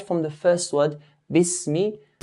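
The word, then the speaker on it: بِسْمِ: So right from the first word, Bismi, the ba has to be pronounced with a clear kasra. Bismi.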